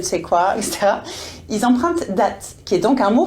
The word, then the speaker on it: date: non plus date, donc cette fois-ci avec la prononciation anglaise, date revient chez nous et détrône le rendez-vous amoureux.